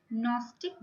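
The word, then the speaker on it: Gnostic: मुझे लगता है जी यहाँ पे साइलेंट है। नॉस्टिक बीइंग, इसे दिया था,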